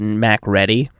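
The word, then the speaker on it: MacReady: one of the uh I believe it's pronounced Mac ready wrong mccre and the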